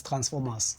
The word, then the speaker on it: Transform-US: yes is is is is called when you pronounce it the process Transformers as in like the movie or the like